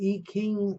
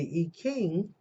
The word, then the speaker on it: I Ching: And then for some people, if you want to get out, the I Ching Oracle, an I, which is pronounced E in China, where I've studied, and Japan, King, Ching, with the K sound, which I've showed you several times.